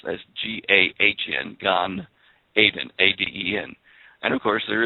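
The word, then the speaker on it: גן עדן: the garden of eden is gone and it's pronounced as g-a-h-n gan aiden a-d-e-n and of course there is a gulf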